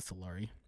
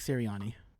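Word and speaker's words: Sirianni: do it better yeah nick solari ceriani is that the eagles coach yeah is that is that how you say his name i thought solari all right nick ciriani uh he's another guy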